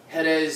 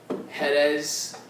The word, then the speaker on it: Jerez: fill sherry casks from jerez spain i believe i'm pronouncing that correctly i know in spanish the j is pronounced like an h so it's spelt j j-e-r-e-z hedes i believe if i'm